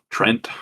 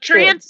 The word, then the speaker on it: treant: Or how do you pronounce treant? Trent? Yeah. Uh, No, Treant's is correct. treant makes sense to me.